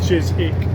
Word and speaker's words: Chiswick: So now we're heading east on the M4 towards Chisik. It's spelled Chiswick, but it's pronounced Chisik.